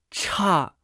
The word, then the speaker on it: 差: voz alta ch ch cha cha ch ch se pronuncia con el cuarto tono ch puede tener varios